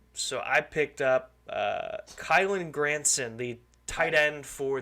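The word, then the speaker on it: Kylen: I picked up uh kylin granson the tight end for the Colts kylin or just Kyle it's kylin I have it right here it says kylin on our little thing right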